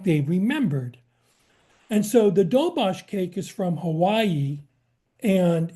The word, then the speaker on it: doberge: And this is also called a dobosh, even though it's written as doberge.